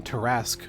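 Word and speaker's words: Tarrasque: Tarask. Of course, my mid lane is a Tarask. It's not how it's spelt, but Tarask is a D&D monster.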